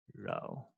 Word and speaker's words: rho: Okay, so the pronunciation here is rho.